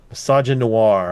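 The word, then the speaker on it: misogynoir: Yeah, like mis No, no, like like misogyny. Oh, misogyny noir.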